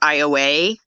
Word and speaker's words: Iowa: them there's one called it's spelled iowa it's called ioa there's jennings there there's